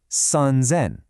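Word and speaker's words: 三千: Now, 3,000 would be sanzen.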